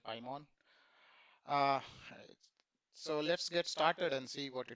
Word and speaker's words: Paimon: Now we will be discussing in this blog Apache Pimon or Pmon um depending on how you pronounce it. I like it called Apache Pimon.